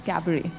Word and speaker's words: cabaret: The T is silent, it's cabaret.